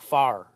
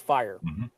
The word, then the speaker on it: fire: of a common word, like fire. You know, a lot of us we say it like far, which is like far. Yeah, like FAR, but it's fire.